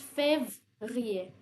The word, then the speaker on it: février: So whenever you add this accent aigu, so basically you gotta pronounce it with e. So it becomes février, February.